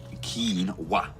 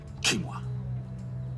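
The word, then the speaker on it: quinoa: back in no rush Keen wa kimoa you all right that's how you say it it is porridge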